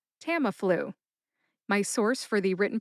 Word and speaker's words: Tamiflu: Put all three syllables together, and you get Tamiflu. Emphasize that first syllable, tam. See if you can hear the emphasis when I say it again. Tamiflu. Tamiflu.